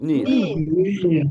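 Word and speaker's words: ניר: appelle ça uniric et le Yod ben il est muet il est muet c'est pour ça que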